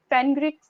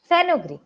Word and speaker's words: fenugreek: okay, break the word first, okay, and fe will not go as fanu, no, fenu, fenu, Greek.